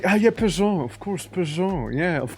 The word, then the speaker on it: Peugeot: Oh, you mean Peugeot? Peugeot. Yeah, Peugeot. Of course. Why am I reading it like page out?